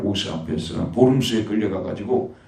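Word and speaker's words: Worms: 이게 루터라는 이단자가 있다고 해가지고, 결국은 이제 칼 5세 앞에서 보름스에 끌려가가지고, 보름스, 아주 영어로 웜스라고 하는데, 독일어 발음 보름스입니다.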